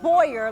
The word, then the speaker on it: Boyer: her last name it's she wants me to say it Boyer like boy you're good and she was she